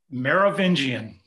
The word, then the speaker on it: Merovingian: Our speaker is a member of the order of the, okay, I'm gonna probably mispronounce this, Merovingian dynasty. Am I pronouncing that right? Merovingian.